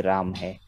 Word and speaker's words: रामाः: हाँ और सिर्फ ये ध्यान रखना है कि जो विसर्ग का ह हम उच्चारण करते हैं तो उसके साथ मात्रा नहीं छुपा रहेगा। लगानी, वो वैसी का वैसा ह की तरह उच्चारण होगा, हा की तरह नहीं होगा, रामाहा कई लोग बोलने की कोशिश करते हैं वो नहीं है, रामाह ह जो है वो छोटा ही रामाह है।